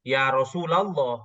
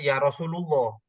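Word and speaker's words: يا رسول الله: laul jalalah adalah mud ya bacanya Ya Rasulallah bukan bukan Ya Rasulullah apalagi kalau ya rasulillah itu malah jauh satnya ya Jadi bacanya itu Ya Rasulallah tapi kalau seperti ini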